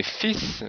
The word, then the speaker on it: fils: Et fils, le masculin de fille, le L n'est pas prononcé, mais le S est prononcé.